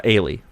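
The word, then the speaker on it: Eilidh: introduced in this this girl's name is uh ailee but it's spelled like the classic gaelic way e-l-i-d-h i think is how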